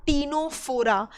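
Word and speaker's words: Ctenophora: इनका नाम होता है क्या, टीनोप्लाना, जिसमें सी साइलेंट होता है। तो टीनोप्लाना जो था, टीनोप्लाना की वजह से इनका नाम पड़ा टीनोफोरा, यानी कि फोरा मतलब होता है बियरिंग।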